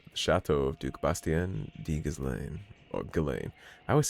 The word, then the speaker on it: Ghislain: of Duke Bastien de Ghislaine. Or Ghislaine. I always say Ghislaine. It's Ghislaine. The S is silent.